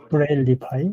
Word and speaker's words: Braillify: 브레일리파이 예, 맞습니다. 브레일리파이가 정확한 발음입니다.